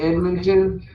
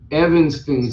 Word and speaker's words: Evanston: It's not Edmonton. Evanston subdivision.